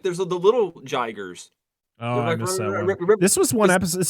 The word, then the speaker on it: Jiger: So, yeah, this is when the second kaiju is it how do you pronounce this one? Jiger.